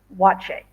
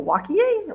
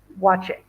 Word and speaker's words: Waakye: And when you see the word wache, it is spelled Waakye, and it's pronounced wache. So be aware of that. You're going to go wakie, wacky, wacky, wacky. No, wache.